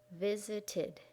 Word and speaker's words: visited: Visit has 2 syllables in its base form: visit, So when we make it past, we have to add a third syllable, id, and it sounds like visited, visited, visited.